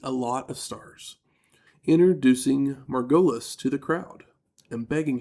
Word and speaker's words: Margolis: and it was Cindy Margulis. Yeah. And then, like, the next day, I watched the show, and was like, oh, hey, Cindy Margulis. Cindy Margulis. What a... Margolis. That's how you say her name.